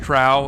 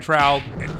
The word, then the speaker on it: Trow: It's pronounced trow, and we confirmed that in Myth 1 the narrator pronounces it trow.